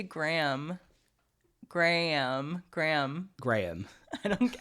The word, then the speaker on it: Graham: me oh no to to British people it sounds like you're saying gram like g r m like 100 grams okay like gramar gramam